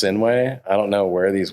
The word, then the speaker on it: Sinuhe: No, it's not HUE. It's not? You just blew it. You guys know me for 15 years. Blew it. It's not H. No. Sinuhe. SINUHEXAVIER. Sinuhe. Sinuhe. It's pronounced Sinuhe.